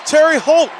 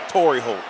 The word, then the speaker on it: Torrey Holt: That's Terry Holt. Torrey Holt. Jesus Christ, the way I've been saying the man name wrong the whole game.